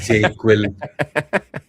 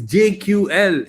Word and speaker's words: JQL: It's JQL. It's not JQuil.